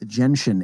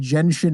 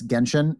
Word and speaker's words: Genshin: big surprise no actually you pronounce it wrong it's jensen impact no no they they